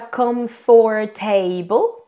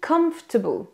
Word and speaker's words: comfortable: vais vous expliquer pourquoi en fait il y a des syllabes il y a des sons qu'on ne dit pas donc on ne dit pas comforable mais on dit comfortable comforable donc on va prendre